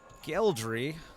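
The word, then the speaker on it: Gheldry: you made a deal with is named uh geldry which is spelled g-h-e-l-d-r-y geldry um real quick professor were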